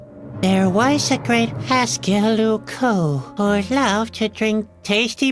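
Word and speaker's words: Loucaux: Lucco doesn't really rhyme with Bordeaux. It's spelled completely differently. Really? Luco is spelled L O U C A U X.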